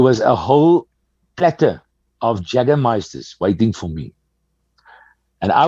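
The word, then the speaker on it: Jägermeister: pronunciation so i'm going to fix your german pronunciations notice this thing is jaggermeister it's jagermeister yeah we got we got a lot of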